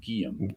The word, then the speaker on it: Guillaume: get his name right guillaume i always wanted an extra syllable on that like it's got an accent over there yeah yeah it doesn't